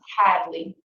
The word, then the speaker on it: Hadley: the fruit okay and the last name is Hadley h a d l e y where you